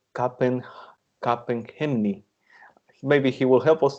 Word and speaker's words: Capgemini: I thought that it was Capgemini because you know that it has like a it had a French pronunciation, but nowadays I think that most of the people call it by Capgemini.